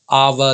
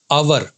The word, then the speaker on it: our: आवर lives, इसको आवर, ये इसकी सही प्रोनाउंसिएशन, क्योंकि यहां भी आर लगा है और आर के बाद कोई भी वावल साउंड नहीं है, इसलिए आवर। कुछ बच्चे या कुछ लोग इसको बोलते हैं अवर, लेकिन ये अवर नहीं है, ये है आवर।